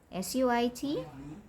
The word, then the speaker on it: suit: S-U-I-T is pronounced as suit.